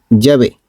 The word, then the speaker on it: Yahvé: estas 4 consonantes, YHWH, que los judíos pronunciaban así, Yahvé, y en castellano se escribe Yahvé. La pronunciación Yahvé es sin duda la pronunciación más correcta del hebreo original para indicar al Dios como yo soy el que soy.